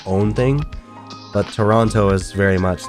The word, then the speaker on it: Toronto: Also, apparently Canadians will say Toronto, whereas Americans say Toronto. But apparently it's like a Canadian accent to say Toronto. I'm from Toronto. They can tell you're American as soon as you say Toronto.